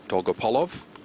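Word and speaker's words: Dolgopolov: man right there he was asked how to pronounce his name and that's the way he does it dogopolov that's one of the reasons he does sand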